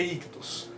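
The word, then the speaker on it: ichthys: A pronúncia correta, até onde eu sei, é ictus.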